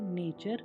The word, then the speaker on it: nature: यहाँ पर आपने देखा कि S के बाद TION आया तो और T के बाद URE हो तो T का उच्चारण च हो रहा है, जैसे क्वेश्चन, कल्चर, नेचर, पिक्चर।